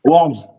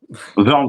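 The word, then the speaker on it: Wörns: Warms. Ouais, c'est mal prononcé mais c'est ça. Christian Verns. Verns, pardon.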